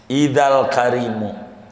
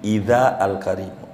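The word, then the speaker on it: إذا الكريم: Idzal karimu, jangan idhi, idza al karimu.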